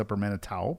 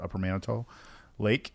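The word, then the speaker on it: Upper Manitou Lake: It looks like it's upper Manatau, but they they pronounce it upper Manito Lake and uh it's it's tens of thousands of acres of lake and six people on the lake.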